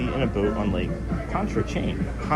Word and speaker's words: Pontchartrain: It would be awesome to be in a boat on Lake Pontchartrain. Pontchartrain.